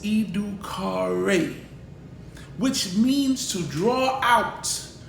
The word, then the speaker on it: educare: The word education comes from the Latin term educo or educare, pronounced educare, which means to draw out, to lead forth, or to rear out of.